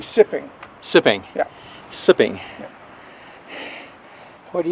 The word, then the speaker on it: Tsi-p'in-owinge: it called now well it's spelled t SII p i n and it's English would be sipping sipping yeah sipping what